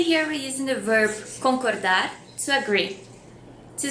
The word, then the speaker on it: concorda: Or just concorda? Agree? And the answer is eu concordo or eu não concordo. Also, the word concorda has the same pronunciation as with rope.